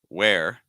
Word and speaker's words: where: here so we have where which you could spell w h re e or w are okay both pronounce the same where they rhyme with air where where one thing